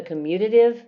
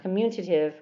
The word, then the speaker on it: commutative: left here left column the commutative that's not communicative we're not there's no n in commutative so practice pronouncing that commutative associative reflexive symmetric and